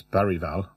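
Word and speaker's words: Bergvall: Madison uh bergal who apparently his name is not pronounced beral it's baral but I'm going to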